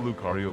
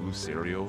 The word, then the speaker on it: Lucario: you go your whole life pronouncing a pokemon name wrong it's help that'll happen yeah did you call lucario lucerio for a long time yep i did i